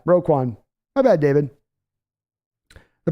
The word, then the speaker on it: Roquan: injuries suck David view roquan Smith my man not Raekwon oh my bad roquan my bad David the